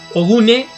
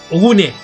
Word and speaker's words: Ogun: Ogune es la pronunciación correcta. Ogune.